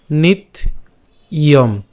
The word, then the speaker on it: নিত্যম: তাহলে ইয়ে মে মতম, ইয়ে মে মতম ইদং নিত্যম, নিত্যম উচ্চারণটা কেমন করলাম, নিত ইয়ম।